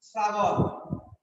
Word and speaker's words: শ্রাবণ: দন্ত বর্ণ যুক্ত থাকে, যেমন লেখি শ্রাবণ, শ্রাবণ উচ্চারণ দন্তে শয় রফলা আকার ও দন্তে ন শ্রাবণ বয়কার পশ্চিম শ্রাবণ দন্তে স হয়ে গেল কেন হলো কারণ তালব্যস্যের সাথে রফলা আছে এই রফলা রটা হলো দন্তধ্বনি দন্তধ্বনির প্রভাবে তালব্যস্য দন্ত স হয়ে গেছে এরকম লেখি প্রশ্ন উচ্চারণ